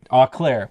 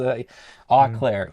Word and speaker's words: Eau Claire: Eau Claire, Wisconsin. I knew what it was. Eau Claire.